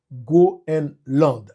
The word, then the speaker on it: Groenland: avec français et donc et anglais c'est Greenland et puis français c'est Gro and Land GR and Land donc aussi simple et